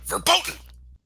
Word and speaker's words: verboten: You gotta Verboten. say it like a German. You gotta say it like a German would. Verboten.